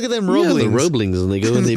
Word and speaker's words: Roebling: Yeah, the Roeblings, and they go and they build the bridge. I really hope that I'm pronouncing it right. It's spelled ROE, so Roe, BLING. Yeah, Roeblings.